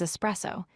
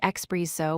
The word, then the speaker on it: espresso: Word 3 is espresso. This is an Italian coffee drink. The correct pronunciation is ESPRESSO. Do not say ex-presso with an X sound.